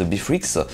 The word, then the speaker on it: Beatrix: s'appelle Beatrix, donc il s'écrit Beatrix, mais à prononcer en fait Beatrix, donc un logiciel gratuit, que vous pouvez donc